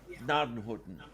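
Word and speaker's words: Gnadenhutten: is, Nadenhutten. Yeah, it's For like example. you start to pronounce the G, but you have to cut it off halfway and get it to the next letter.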